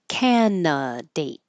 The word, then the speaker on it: candidate: We don't say that middle d. Just canate.